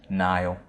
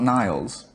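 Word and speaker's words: Niall: Nile. Nile. Singular. Nile. Not Niles. No.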